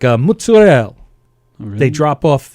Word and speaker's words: mozzarella: But they real Italians, like from Italy, people I've met who like from Italy, they say mozzarella. The A is pronounced.